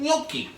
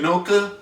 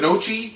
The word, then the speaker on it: gnocchi: they serve something called gnocchi. I love gnocchi. Which people really have a wonderful time pronouncing, by the way, because it's spelled with a G. So everybody goes gnocca, gnocchia, gnocchi.